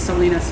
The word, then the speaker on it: Salinas: I've got to be really careful because my brain always wants to pronounce it like Salina, Kansas, but it's Salinas, California, because they pronounce it correctly here.